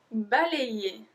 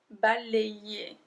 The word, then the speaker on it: balayer: Balayer. Balayer. Do you see how I pronounce A-Y? Ayer. Ayer. Balayer.